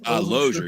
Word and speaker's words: Losier: Loer. Yeah, loger. Loer. Okay, cool. I've heard a lot of different pronunciations, but All right.